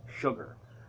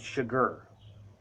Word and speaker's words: Chigurh: I think that's how you say it, because everybody in the book kind of jokes and says sugar, but it's Chigurh.